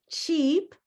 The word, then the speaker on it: cheap: But, cheap cheap is a green word. It has the same sound as the word green.